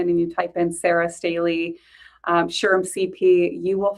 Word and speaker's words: Staley: Sarah um Staley. Have I pronounced that right?